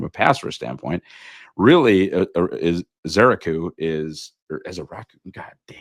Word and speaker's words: Ezeiruaku: NFL Draft, and I'm going to use the pronunciation that I found right here on the internet. That is Donovan Ezeiruaku. Ezeiruaku.